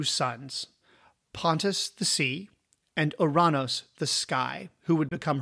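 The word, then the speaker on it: Ouranos: would become her mate we usually pronounce his name uranus but since i have the sense of humor of a fourteen year old i'm going to leave uranus alone and stick with uranus otherwise we'll never get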